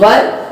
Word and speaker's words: were: इसमें बी की कौन सी फॉर्म आई है, वर, WERE, वर. बहुत सारे लोग प्रोनाउंसिएशन में थोड़ा सा कंफ्यूज होते हैं. WHERE को वेयर बोलते हैं और WERE को वर बोलते हैं.